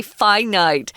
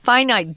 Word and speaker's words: finite: course is finite and it's weird that we pronounce these differently Tom you know infinite infinite but why do we say finite sorry that's how weird English is finite just means it is